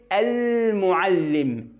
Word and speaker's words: المعلم: لو جت كلمه المعلم دي في نص الكلام مش هقطع الكلام عندي الالف بتاعتها، لانها توصل الكلام اللي قبله باللي بعده. يعني مثلا نقول مثال كان المعلم، كان المعلم، وصلت النون اهي باللام اللي بعد ألف الوصل دي، لكن ألف نفسها ما قرأتهاش.